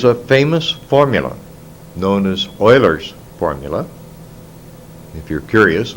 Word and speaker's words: Euler: famous formula known as Euler's formula if you're curious Euler was a Swiss mathematician consequently it has the German pronunciation and the Euler's formula